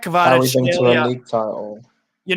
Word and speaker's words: Kvaratskhelia: I think that's how you say his name. It's Kvaratskhelia. Yeah, the thing about him, right? It took me a bit to look up his name and look at Georgian saying it, and I had to practice it.